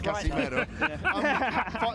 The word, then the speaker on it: Casimero: But I was saying it for a reason, in that 5 years ago when you fought Casimero, people have a problem with me pronouncing it right, but it's Casimero.